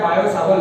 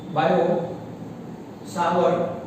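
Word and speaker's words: Biot–Savart: तो पहला होता है बेटा बायो सावर्ट लॉ, याद है ना, बायो सावर्ट लॉ, T silent रहेगा, बायो सावर्ट लॉ, राइट।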